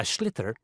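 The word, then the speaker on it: sliotar: this ball called a schlitter that's s-l-i-o-t-a-r so it's not spelled the way it's pronounced you his ears into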